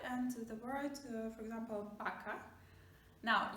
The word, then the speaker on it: vaca: Now, you might hear me say vaca, not vaca, and that's okay, because when you talk and you listen to Spanish speakers, you will notice that they pronounce V just like something in between, I would say, between V and B.